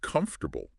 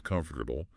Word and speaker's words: comfortable: Or think about a word like comfortable. We write four syllables. Comfortable. But how do we say it? Um comfortable. Three syllables. The O and R kind of get squished. Wait, no. The O just disappears.